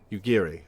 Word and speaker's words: Yugiri: you Geary found me is it yugiri or yugiri yugiri okay Japanese pronunciation we traveled to Vesper